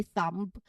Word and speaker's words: thumb: It's just the th and sounds. Na and there's no b sound at the end commonly when we say that particular word.